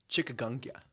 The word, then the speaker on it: chikungunya: All right, like dengue and chikungunya. Is that how you pronounce that, man? Chikungunya.